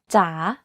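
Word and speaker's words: จ๋า: In rising tone, the pitch goes down first and then goes up. Take, for example, the Thai name จ ๋ า You can hear that my pitch went down slightly and then up when pronouncing this word.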